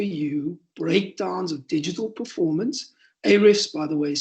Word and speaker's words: Ahrefs: Ahrefs, by the way, is spelled Ahrefs.